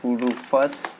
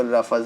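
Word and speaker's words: Rufus: एंड हम लोगों को एक और सॉफ्टवेयर की ज़रूरत पड़ेगी जिसका नाम है रूफस, ठीक है। एक्चुअली इसको रफस बोलते कोई लोग बोलते हैं रफूस, बट इसका एक्चुअली प्रोनाउंसिएशन रूफस होता है, ठीक है।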